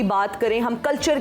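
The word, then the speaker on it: قلعہ: ये बोला कि ये किला होता है, बस प्रोनाउंसिएशन काफ वाली जो होती है ना, ये फ्रॉम एपिग्लॉटिस, यस, किला होता है ये जरा इस तरह से।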